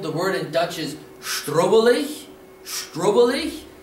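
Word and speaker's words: Schtruvvalech: The word in Dutch is strubbelig. Strubbelig. It's a little bit longer word, but don't be scared. Let's spell it.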